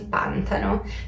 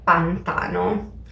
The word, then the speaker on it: pantano: Ad esempio, da brasiliana per me sarebbe molto naturale dire pantano, perché in portoghese abbiamo la stessa parola e la pronuncia è pantano. Ma in realtà in italiano non si dice pantano, si dice pantano.